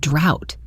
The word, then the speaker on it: drought: And what about the word drought? The off here makes an ow sound like in out. Doctor out, drought.